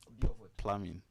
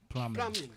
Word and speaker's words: plumbing: The B is silent. Plumbing. Plumbing.